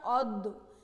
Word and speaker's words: অদ্য: যেমন অদয় জফলা, এটা লিখেছি আমি যেভাবে লিখেছি তাতে আমাদের উচ্চারণ করতে হয় অদ্য, কিন্তু আমি শব্দটিকে উচ্চারণ করি অদ্য। কেন সেটা বলছি। অ এর পরে জফলা রয়েছে এজন্য অ এর উচ্চারণ ও হবে।